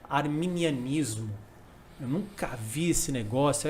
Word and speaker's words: arminianismo: uma primeira diferenciação né você pronunciou corretamente arminianismo certo porque muita gente pronuncia armenian ismo armeni e não tem nada a ver com Armênia né Bispo V